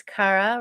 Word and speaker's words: Khara': to me so today is awesome human is Cara right did I say it right Cara yes yay for me yay you did